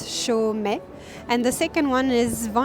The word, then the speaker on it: Chaumet: It's Chaumet. So it's pronounced really easily. It's Chaumet.